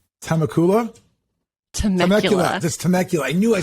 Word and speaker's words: Temecula: That's Temecula.